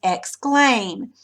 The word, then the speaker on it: exclaim: So you're going to put the accent mark after claim because it's exclaim. But what about exclamation? It's going to go over the may part.